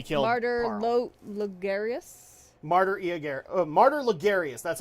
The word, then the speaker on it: Logarius: and then we killed carter martyr aguero martyr lagarius that's how you say it okay location forsaken